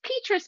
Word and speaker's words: Petrus: It's Petrus, but you know what? Petrus. Everybody all over the world says it a little bit differently, and I just kind of go with it.